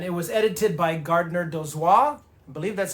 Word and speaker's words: Dozois: fiction stories and it was edited by Gardner Dozois. I believe that's how you say his name, Dozois, d o z o i s.